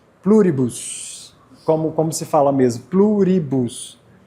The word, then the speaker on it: Pluribus: Pluribus.